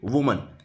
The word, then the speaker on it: women: ठीक है, इसी तरीके से वुमन, WOMAN, वुमन मतलब एक औरत, और जब बहुत सारी औरतों की बात करें तब हो जाएगा वीमिन। यहाँ पर इसका प्रोनाउंसिएशन होगा विमिन, WOMEN, और इसका प्रोनाउंसिएशन होगा विमिन।